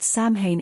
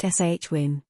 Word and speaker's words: Samhain: However, a majority of them are pronouncing the word Samhain incorrectly, saying Samhain. In fact, the word is correctly pronounced Shwin.